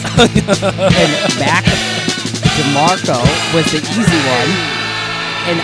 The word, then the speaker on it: Mac DeMarco: Mac DeMarco. Mac DeMarco. I said it so wrong. He's been saying it wrong all week. Mark D'Amico.